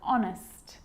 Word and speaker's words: honest: why and whistle and sometimes it's not pronounced at the start of a word like honest and our and sometimes